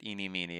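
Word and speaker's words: Ini Miney: Eeny meenie as an eeny meenie miny mo.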